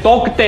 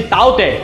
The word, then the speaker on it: Tauktae: इस स्टॉर्म का नाम इंग्लिश में तोक्ते है, लेकिन इसका प्रोनाउंसिएशन ताउते होता है।